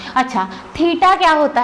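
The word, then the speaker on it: theta: symbol होता है ऐसा इसको हम बोलते हैं तीता क्या बोलते हैं तीता ठीक है ऐसा पढ़ने हैं इसलिए प्रोनाउंस करने के लिए मैंने लिख के दिखाए तीता तो तीता जो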